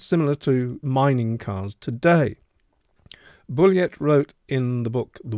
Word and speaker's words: Bulliet: I think this third theory, put forward in 2016 by historian Richard Bulliet, I'm going to pronounce it Bulliet because I think he's not French but American, a professor emeritus at